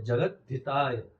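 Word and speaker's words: जगद्धिताय: ब्राह्मण ता जगत हिताय जगत ताय ऐसा उच्चारण ऐसे होता है जगत ताय अलग करेंगे तो जगत हिताय कृष्णाय गोविंदाय नमो नमः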